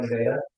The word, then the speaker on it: Nevada: Spelled like Nevada, said like Nevada.